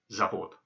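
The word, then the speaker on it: завод: And the third word, which might be new to you, is pronounced zavod. So we have dom, stol, zavod.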